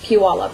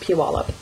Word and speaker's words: Puyallup: It's pronounced Puyallup for those of you who are not in the general area here. I'll type it on the thing. It's pronounced Puyallup.